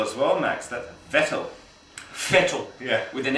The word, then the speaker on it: Vettel: it's good to see fedal doing well mate it f good to see our German friends turning around and saying that in German V is pronounced F heavy F so we're going to